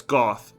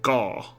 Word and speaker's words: Goth: Yeah, that's Goth. G O T H. They kind of say it like Gau.